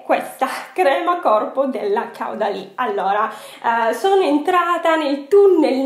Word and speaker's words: Caudalie: di voi mi fa: no Franci, non si dice Caudalie ma si dice Caudalie.